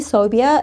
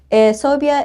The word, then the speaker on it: Sobia: elephant in the room soia is pronounced like how you would say phobia but I promise you